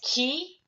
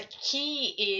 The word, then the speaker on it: 気: pronounce it in a key like Reiki or Ki if you're a martial art practitioner or healing healer familiar with Reiki these pronounced as a key is something related to a Japanese culture or methodology came from